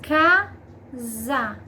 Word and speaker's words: casa: Então, S entre duas vogais, som de Z.